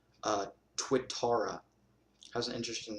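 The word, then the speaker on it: Tuatara: super cars or SSC as it's called Uh twitara has an interesting name it's spelled t-u-a-t-a-r-a and it's a really exotic unique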